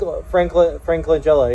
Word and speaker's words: Langella: And so, like, I got to see Frank, is it Langella? I always say his name wrong. Frank Langella, yeah, the Langella.